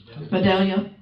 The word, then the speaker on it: Vidalia: Vidalia, as in onion.